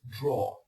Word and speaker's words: drawer: So it's draw. It's not a drawer or something like that, it's draw.